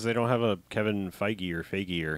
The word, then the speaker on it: Feige: And Because they don't have a Kevin Feige or how do you say his name?